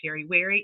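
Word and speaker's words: Sherry Weary: So, in case you do not know who I am, my name is Sherry Wary. Yes, it rhymes.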